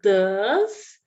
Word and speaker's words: does: rotina é do ou does. Então, a pronúncia vai ser do, tipo DU mesmo, do. E o does vai ser D-A-Z, D-A-N-Z, does, D-A-N-Z, does. Essa é a pronúncia.